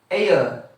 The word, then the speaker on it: heir: Next, this is ayer.